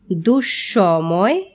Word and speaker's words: দুঃসময়: তবে পদের মধ্যে যদি বিসর্গ থাকে তাহলে বিসর্গ পরবর্তী ব্যঞ্জন বর্ণটি দ্বিত্ব উচ্চারিত হয়, যেমন নিঃশেষ, নিঃসন্তান, নিঃসম্বল।